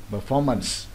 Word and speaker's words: performance: dạ, proposal, proposal, proposal, performance, performance, có nghĩa là performance. Đấy, vậy đọc lại nghe nha. Confidence, nhấn lần đầu. Opinion, nhấn lần hai. Proposal, nhấn lần hai. Performance, nhấn lần hai.